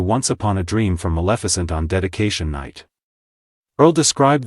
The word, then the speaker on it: Maleficent: Julianne Hough added a playful moment by mispronouncing Maleficent as Massaphalant.